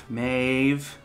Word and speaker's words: Maeve: maeve yeah well done the bh is so hard for me to understand as a v it just doesn't make sense to me which you can also spell in english m-a-e-v-e maeve yeah yeah yeah we